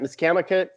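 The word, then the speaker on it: Misquamicut: are there so much miss kama's cut miss kamika is how you say at the beach down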